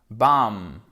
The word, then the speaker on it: bomb: arrive alors là c'est simple quatre lettres mais il ya un piège l'avez vous trouvée avant qu'elle n'explose la bombe comment ça se prononce bam exactement le bis ils se prononcent pas il s'écrie mais ne se prononce pas bam la bombe ensuite